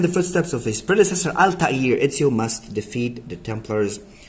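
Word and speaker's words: Altaïr: Altair, this is how you pronounce it.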